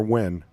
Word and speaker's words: Nguyen: Nguyen. Stands for win. Pronounced Win.